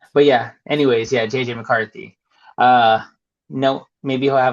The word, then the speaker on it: McCarthy: Um Mafrey. Um why can't I say his name? McCarthy. M is it McCarthy? I don't know why I sound JJ McCarthy.